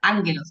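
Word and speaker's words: ἄγγελος: Como si tuviese una ni antes de la segunda gama, pero no es así, es que se pronuncia así.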